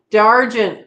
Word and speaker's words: d'Argent: D'Argent. There we go. That's how we say it.